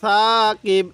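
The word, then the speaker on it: ثَّاقِب: তাহলে আন নাজমুস সাকিব, এটা কিন্তু শিন না, অনেকে এটাকে শিন, অনেকে আমরা এটাকে শিন পড়ি, 3 নক্তা থাকলে আমরা শিন পড়ি না, এটা সা, এটা নরম করে উচ্চারণ করব।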